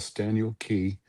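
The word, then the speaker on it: Staniel Cay: No, it was a little bitty tiny island out in the Caribbean called Staniel Key. K is how they say it.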